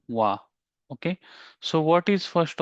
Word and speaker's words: は: So even though it is written as a ha okay it it read as a wa.